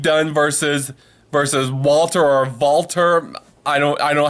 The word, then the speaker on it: Walter: language is pronounced differently because W is pronounced as a V in this matchup now